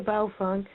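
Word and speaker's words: Baofeng: festival so my first radio was a bow funk and I believe that's the correct mandarin pronunciation Bao means bag infamies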